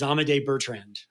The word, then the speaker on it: Amédée Bertrand: But in Gene Pool, your protagonist, and help me make sure I get the pronunciation right, your protagonist is Amédée Bertrand. Is that right?